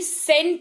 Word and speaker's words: scent: Spelling तो जरूर SC से चालू होती है, लेकिन उच्चारण जो है वो सेंट होता है।